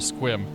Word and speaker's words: Sequim: you guys all right one syllable squim it's like new englanders not saying things how they're spelled second Valley traffic Sky